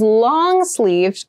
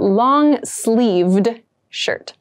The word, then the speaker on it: long-sleeved: Something that is long-sleeved goes until the wrist. This is what we consider long. And make sure you clearly pronounce that D sound at the end. So not long sleeve, but long-sleeved shirt.